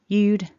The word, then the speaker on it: you'd: another example then remember we're focusing on this jude you'd benefit from her input again repeat after me